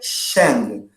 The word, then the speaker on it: Shang: Então, anota aí no seu caderno e se liga na pronúncia. Dinastia Shang.